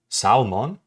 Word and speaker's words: salmon: Salon like it's Digimon salmon salmon what am I crazy didn't did I not say salmon salmon salmon salmon where's the L why do you have